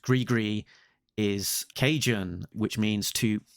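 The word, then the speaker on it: gris-gris: about uh I'll say this as it's written Gris Gris so Gris GIS pronounced grigri is Cajun which means to curse someone frequently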